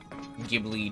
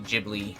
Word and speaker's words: Ghibli: more Studio Ghibli work gibbly Ghibli I've heard it pronounced both ways but Studio Ghibli